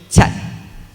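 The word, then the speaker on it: kyat: someone sees yeah okay is actually know the pronunciation is actually check okay check and what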